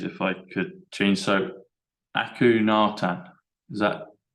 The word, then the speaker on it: Akhenaten: A-K-H-E-N, like hen, like a chicken. Yeah. A-T, like at.